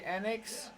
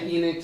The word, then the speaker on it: Enix: In the office, it's split. Oh, really? Yeah. I say I say enix. Some people say annex.